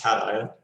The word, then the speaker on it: cation: know what acacia is acacian is uh is a positive ion is it not i think it's pronounced cation oh come on alan